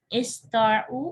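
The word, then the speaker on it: اسطاعوا: अब देखिए, इस्ताउ और इस्तताउ दोनों का मतलब एक ही है, प्रोनाउंसिएशन चेंज है। पहले वाला थोड़ा खफीफ है, दूसरा थोड़ा शदीद है।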